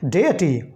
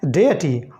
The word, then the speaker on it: deity: कर सकते हैं, DEITY, लेकिन इसका प्रोनाउंसिएशन पे आपको खास ध्यान देना होगा। इसका प्रोनाउंसिएशन है डेटी। What is that? It is called डेटी।